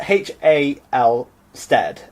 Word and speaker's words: Halstead: because it's spelled Hal Stead, and so Halstead. Halstead. There we go. Yeah. Say it like an Essex person and you'll say it right.